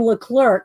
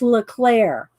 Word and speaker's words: Leclerc: she's and she goes i always call her anne leclerc because that's how it's spelled but she says it's pronounced leclaire meaning lightning in french